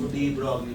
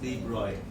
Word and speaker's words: de Broglie: Physics में हम लोग इसको de Broglie बोलते हैं. The correct pronunciation is de Broglie.